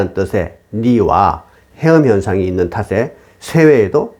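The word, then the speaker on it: 梨: 배는 중국어로 리라고 읽으며 결별하다 또는 이별하다는 뜻의 리와 같은 발음의 해음 현상으로 배는 불길하다고 하여 손님상에 내놓는 것을 금기시하는 것입니다.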